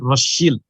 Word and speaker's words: Rothschild: Jadi waktu itu Zionisme mengandalkan proyek-proyek Rothschild ya, bacanya sebenarnya yang benar katanya Rothschild ya, karena SCHILD itu bukan child tapi bicara adalah shield dari bahasa Jerman kuno yang artinya ya shield kalau kita sekarang bahasa Inggris itu tameng.